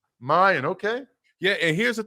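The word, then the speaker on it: Miyan: about how do you say William's first name Mayan Mayan okay yeah and here's the thing we know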